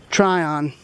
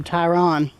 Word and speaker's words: Tryon: track section coming through Tryon, or Tryon. I keep mispronouncing it Tryon, like with an I instead of a R and a Y.